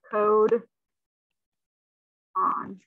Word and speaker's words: codon: called a codon but it's spelled c-o-d-o-n and this is pronounced code on okay and then three